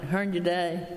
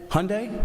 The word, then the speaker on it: Hyundai: how your day and did I pronounce it right Hearn today Hyundai Hyundai okay well that's I couldn't